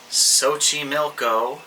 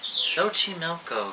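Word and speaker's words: Xochimilco: you're thinking to yourself sochi milko sochi milko what the hell is sochi milko it's this milko so the x is pronounced sometimes in spanish with sort of an s sound i don't know enough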